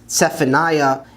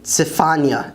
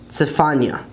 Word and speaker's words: צפניה: The next book, which some people pronounce as Zephaniah, is actually Tzefania in Hebrew, Tzefania.